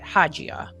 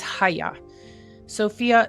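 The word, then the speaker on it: Hagia Sophia: at least the the um and I don't know if I'm saying it correctly but you don't say it haja or haga it's haya Sophia that's in Turkey and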